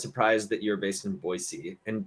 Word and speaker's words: Boise: that you're based in Boise and B I was surprised you pronounce it Boise instead of Boise yes you know people are from here if you say Boise not Boise um yeah correct one